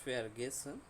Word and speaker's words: vergessen: তারপর ফেয়ার গেসেন, ফেয়ার গেসেন অর্থ ভুলে যাওয়া, এটাকে তিন ভাগে ভাগ করে আমরা পড়ব।